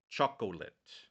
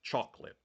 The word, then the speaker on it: chocolate: Thailand people might say chocolate chocolate they'll they'll make a three syllable word but it's wrong it's chocolate right so by adding an extra syllable they're mispronouncing the word right another example taii